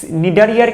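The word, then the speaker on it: Cnidaria: কারণ ইংলিশ অনেক ওয়ার্ড আছে প্রথম অক্ষরটা উচ্চারণ করা হয় না, যেমন টেরিস পি উচ্চারণ করা হয় না, ঠিক আছে। তারপরে নিডারিয়া তো আছে, এরকম আরও অন্যান্য শব্দ আছে যেখানে প্রথম অক্ষরটা উচ্চারিত হয় না।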